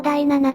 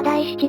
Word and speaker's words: 第七: 画では、第七の読み方を第七としていたが、これは正確には第七であるというご